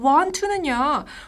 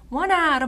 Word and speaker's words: want to: 여기서 want to는요. 우리가 굳이 want to 이렇게 발음 안 하셔도 되고요. wanna로 말씀해 주시는 센스가 있었으면 좋겠어요. 네.